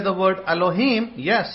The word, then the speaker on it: Elohim: the word elohim but say it properly don't do it the distorted the distorted form is elohim what is the right form he so you get the meme sound in the end so um allahim do